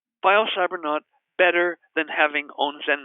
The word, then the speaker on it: biocybernaut: biocybernaut calm and that's bi o cy ber n aut rhymes with astronaut and has a similar spelling and again a biocybernaut